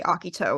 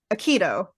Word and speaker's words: Akito: it's actually you know in the Japanese they say Akito which is how it's supposed to be pronounced but I you